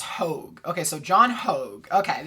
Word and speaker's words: Hogue: Okay, apparently it's pronounced Hogue.